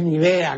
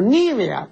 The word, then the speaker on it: Nivea: Así como la crema esa de belleza que no se llama pues Nivea, ¿no? Sino Nivea, porque es como el color de la nieve, ¿no? Por eso se dice Nivea. Pero la gente dijo, "No, eso no puede ser Nivia." Pues no sabe lo que el pueblo pues no sabe lo que significa Nivea, ¿no? Entonces traslada el acento.